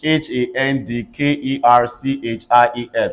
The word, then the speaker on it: handkerchief: HANDKERCHIEF, say handkerchief.